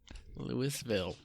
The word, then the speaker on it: Louisville: good old Lewisville Kentucky is that how pronounce now no no yeah yeah it is and it isn't right yeah who cares is it AR Kansas or Arkansas or is it Louisville people Louisville it is Louisville you spell it that way that's how we're going to pronounce it Louisville okay um you're going